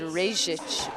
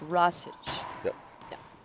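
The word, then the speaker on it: Rajsich: of people even me i've said regis but it's not it's rasage it's actually a name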